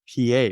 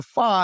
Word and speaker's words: Pha: For example, somebody named Pa, like suppose PA, right? But in Cambodia, they phonetically spell it PHA, Pa.